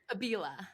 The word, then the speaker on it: Abila: How do you pronounce your last name? Abila.